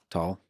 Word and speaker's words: Tal: Uh, it's all about the Can you pronounce my my name? Tall. Wow. Most most people say tall towel.